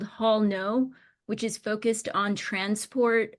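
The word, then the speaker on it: Haul No!: the Grand Canyon well let me spell that was it's h a u l n o Hall no with a big exclamation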